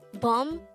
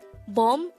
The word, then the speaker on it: 봄: hangout raid number 189 this is pronounced as one syllable word pronounce it with me boom boom the word boom actually pertains to the spring season in korea again bom means spring how do